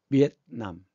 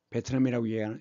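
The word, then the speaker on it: Vietnam: 비엔남, 베트남이라고 얘기하는데 영어 발음은 비엔남입니다.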